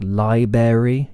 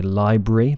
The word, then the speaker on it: library: front of pronunciations like Liber yeah Liber which is technically incorrect people should really say library because it has a r after the B and also with nucular